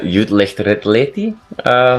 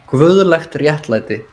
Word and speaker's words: Guðlegt Réttlæti: bit is with, and I will obviously mispronounce the name of the song, but Jutlicht Retleti, something like that. Yeah. That's the fifth track. It's called Guðlegt Réttlæti. Yeah, so I was completely off.